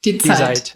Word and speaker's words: Die Zeit: Monde Diplomatique, and in Germany, I'm going to mispronounce it, Die Zeit. Die Zeit. Die Zeit. Tell me what's the right. Die Zeit.